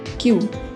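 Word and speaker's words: queue: इसे QUE नहीं बोलेंगे, क्यू। दूसरे वाला UE साइलेंट रहेगा, क्यू, QUE क्यू।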